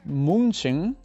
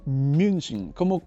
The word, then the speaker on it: München: he asumido, es que es más fácil si la U con diéresis, o sea, la umlaut, la transformas en una IU. U. Por ejemplo, Al revés, ¿no? UI. o sea, no es München, sino es München. Es como una IU, pero no es IU,